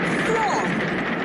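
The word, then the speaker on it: Froy: Freud. Rhymes with joy.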